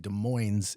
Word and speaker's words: Des Moines: Moine was de Mo de Moes is here MH well it's all acceptable so one with s one without s De Moes in in Iowa has the S they just don't pronounce it they prounce yeah